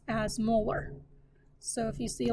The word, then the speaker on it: molar: per liter or capital m which would be pronounced as molar so if you see like a three with